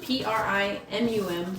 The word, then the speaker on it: primum: Okay, it says, primum, P-R-I-M-U-M. Oh, P-R-I-M-U-M. primum, not premium.